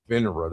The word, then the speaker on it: FINRA: FINRA.